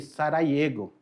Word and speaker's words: Sarajevo: Se escreve Sarajevo, mas se lê Sarajevo, a capital da Bósnia.